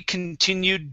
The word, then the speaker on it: continued: here this is continued this will be a D sound okay because the U is voiced okay so Charlie continued drinking so combined with